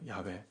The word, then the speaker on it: 야훼: 여호와는 한국식으로 이제 음역을 한 것이고 히브리어의 원래 이름은 야훼예요. 야훼. 야훼. 발음이 좀 어려워요.